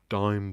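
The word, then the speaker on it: Daim: bar b-a-i-n no that's that's b though d-a-i-m-bar dime bar there you go so yeah it's d-a-i-m it's spelt um that's what they look like like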